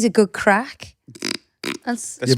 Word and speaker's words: craic: What about when he says a good crack? That's Yeah, but that's spelled Irish, differently. spelled differently, innit? Yeah. Yeah, with a CRAIC. I-A-I-C. Yeah. crack.